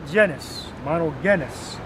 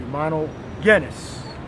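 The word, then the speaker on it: μονογενής: all right mono Denis you know there's no just just sound in the Greek or Hebrew all right so when you pronounce that word make sure you do not say JIS all right see Mino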